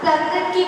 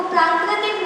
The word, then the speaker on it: प्राकृत: तो सबसे पहले तो प्राकृत को उच्चारण ही लोग गलत करते हैं। वो प्राकृतिक नहीं है। प्राकृत है।